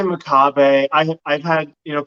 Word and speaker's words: Makabe: always want to say maab so like how do you say your last name just for for reference uh I say maab I I've had you